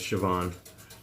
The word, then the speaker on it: Siobhan: veggie spread Siobhan and I know how to pronounce see upon I know it's Siobhan Wow she has she's